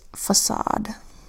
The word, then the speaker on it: facade: into the exceptions category first word facade where the C makes a soft C sound even though it comes before an A it should make the hard C sound if it we're following the rule but it's not following the rule so this word is facade in muscle the C